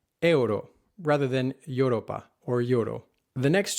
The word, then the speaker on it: euro: The next words trip up many visitors to Spain and Europe in general. Euro, Europa, are not pronounced euro or Europa, but euro, Europa.